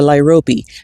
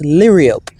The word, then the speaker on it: liriope: This guy here is a lyrope, and I learned the other day that it might be pronounced liriope. And for years I've been saying lyrope, but let me know